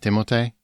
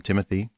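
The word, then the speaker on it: Timothée: either did you know his name is actually pronounced timote timot cuz he's French yeah French yeah but he actually doesn't mind when people call him Timothy and like and and this is probably why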